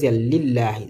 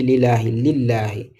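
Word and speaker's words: لله: Vous regardez de lillahi. Je n'ai pas dit j'ai pas dit lilahi.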